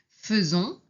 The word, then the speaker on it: faisons: Attention, ici on prononce feu même si on écrit a i hein. Faisons.